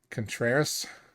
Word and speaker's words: Contreras: William Contreras. That's how you pronounce his name.